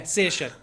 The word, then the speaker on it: Saoirse: because it was given to me on a piece of paper, and I'm like, How the hell do you pronounce What? that? Yeah. so yeah, Saoirse.